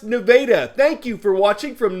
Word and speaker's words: Nevada: nevada high school yes that's pronounced nevada thank you for watching